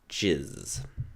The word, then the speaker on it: GISS: How are we pronouncing this acronym? Is it GIS or GIS? Jizz.